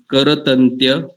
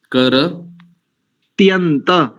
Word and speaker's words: करत्यन्त: बोलो, करत्यंत, करतन्त्य नहीं, करत्यन्त त्यंत रिक्ष दीक्ष मभयम, अभयं कर त्यंत करत्यन्त रिक्ष दीक्ष मभयन।